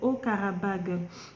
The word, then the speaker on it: Haut-Karabagh: La dernière fois, j'ai fait quelques petits lapsus dans ma vidéo, j'ai mal prononcé, c'est Haut-Karabagh.